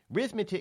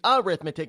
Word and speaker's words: arithmetic: don't you know anything rithmetic it's not how it's pronounced it's arithmetic it's not an R it's an a just goes to show